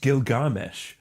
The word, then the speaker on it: Gilgamesh: And it's pronounced Gilgamesh.